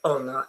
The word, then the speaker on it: honor: Um there are four words where you do not pronounce the h at the beginning. E, honest, honor and okay.